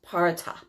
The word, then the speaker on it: Perchta: And it's so weird because it's spelled Perchta. So I had to figure out how to pronounce that, but it's pronounced Parata.